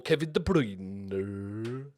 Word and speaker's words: Kevin De Bruyne: Attacking-wise, my favourite player outside of Liverpool, Kevin De Bruyne. That's how you have to pronounce it.